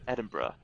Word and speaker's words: Edinburgh: so yeah Edinburgh yeah how would you say it am I saying it incorrectly no you're saying it right it's Edinburgh Edinburgh okay Edinburgh yes